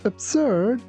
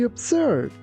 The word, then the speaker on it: absurd: If something or someone is absurd, they are ridiculous. That group of people making animal noises sounds completely absurd. Here be careful not to pronounce this word like absurd. It's absurd. Absurd.